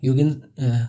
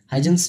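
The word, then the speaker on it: Huygens: ह्यूजेंस, हाइजेंस actually, सही pronunciation होगा, हाइजेंस जो है वो एक्चुअली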